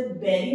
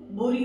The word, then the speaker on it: bury: Now this is very wrongly मिसप्रोनाउंस्ड, इसे बेरी मैंने सुना है बोलते हैं, बड़ी, ब्यूरी, देखो BURY, बुरी भी बोल देते हैं, है ना, बरी भी बोल देते हैं।